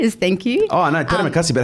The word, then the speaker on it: terima kasih: Oh, no, terima kasih.